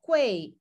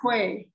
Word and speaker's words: quei: So when you say quay, is it one syllable or do you make it two, like quay? No, quay. Just quay.